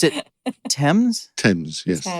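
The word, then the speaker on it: Thames: idea of boys in the river and you pronounced it TS TS yes not thems not F and not leester Square okay yes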